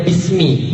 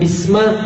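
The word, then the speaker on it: بسم: kali dalam hidup anda Kenapa bacanya Bismi bukan Bisma atau bismu atau bismallahi atau bismillahu gitu kenapa enggak baca begitu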